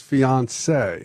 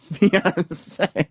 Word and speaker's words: fiancé: You got a very nice fiancé. That's right. Fiancé.